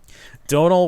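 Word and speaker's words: Domhnall: It's like, the gentleman that played Admiral Hux or General Hux in Donald Gleason. Yep. Is that how you pronounce it?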